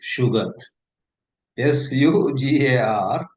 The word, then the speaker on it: sugar: But the word sugar for that matter there is one more to sugar. S U G A R sugar. Though there is the vo after it, it is pronounced like sh elsewhere.